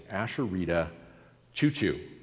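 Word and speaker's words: Asheritah Ciuciu: author's name right it's ashita Chuchu okay no joke just like the train Asher Chuchu uh very excellent Advent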